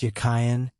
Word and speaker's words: Jachin: The word Jachin in Hebrew was probably pronounced Yakhayan and signified as a verbal noun he that strengthens and hence firm, stable, upright.